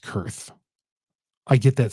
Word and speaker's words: Koerth: I think it's pronounced Kurth. I get that spelling pronunciation wrong. I think it's Kurth.